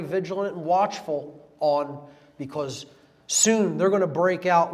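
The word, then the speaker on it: Samhain: so in pronounced so and it looks like sam hayne in english but it's pronounced so in uh in gaelic and that is halloween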